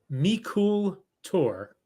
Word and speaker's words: Meikle Tòir: Glen alaki and the brand name is it's pronounced meol tour two words m e i k l e